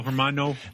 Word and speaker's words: hermano: you my filthy little Hermano they pass a you don't pronounce the h it's hermano okay Hermano they pass